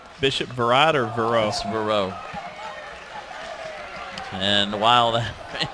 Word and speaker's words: Vero: out and we determined the uh correct Floridian pronunciation bishop verad or Vero Vero and while that may not be the